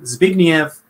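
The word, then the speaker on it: Zbigniew: it's a Scrabble mess but I assume it's polish it's s-b-i-g-n-i-e-w and then brijinski so zignif Brzezinski that's him he's the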